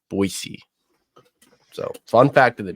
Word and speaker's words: Boise: with the Broncos of boisey state and yes that is how you pronounce it it's pronounced boisey not Boise Boise I know that